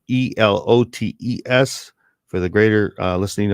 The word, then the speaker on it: elotes: with diallotes and so that's a new term it's spelled e-l-o-t-e-s for the greater uh listening audience elotes yes